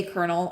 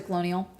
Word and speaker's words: colonel: Very few of them could spell kernel or could say colonel or knew how to read the word colonel. They spelled it colonial or they pronounced it colonial.